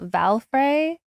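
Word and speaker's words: Valfre: So, I think it's pronounced that Valrey.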